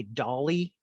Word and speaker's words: DLI: If you hear me say Dolly, it's a pronunciation some of us use.